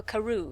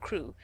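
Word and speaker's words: Crewe: Madame Pascal pronounced it as if it were Karu instead of crew.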